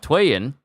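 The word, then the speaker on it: Tweyen: and then you have Twan whose name means is written is said like two and she wields the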